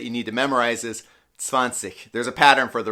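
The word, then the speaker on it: zwanzig: need to memorize is swansea there's a pattern for the rest 30 40 50. but 20 you got to remember as swansea okay so now we have up to 20.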